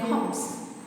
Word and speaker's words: Holmes: HOLMES, and the L is silent there, and it is pronounced as Lillian Holmes.